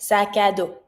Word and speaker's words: sac à dos: And I connect, sac à dos, like if just one word.